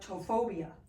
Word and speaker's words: ptophobia: going to talk about tophobia.